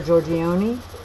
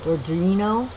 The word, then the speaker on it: Giorgino: Thank you, Jennifer Giorgione. I always get her name wrong. Giorgino. Jennifer Giorgino.